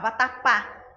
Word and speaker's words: vatapá: baiano né papá acarajé então vejam vatapá última sílaba mais forte pa terminar ganhar acarajé